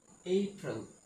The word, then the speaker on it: April: আমরা এটাকে সাধারণত এপ্রিল উচ্চারণ করে থাকি, কিন্তু এটা এপ্রিল না, এটার সঠিক উচ্চারণ হচ্ছে এপ্রিল, এপ্রিল।